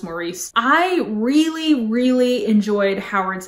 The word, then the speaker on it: Maurice: Somebody told me that the English pronunciation of this is Maurice, which is just bizarre to me, and I don't think I can really make that change. So I'm gonna continue to call this Maurice.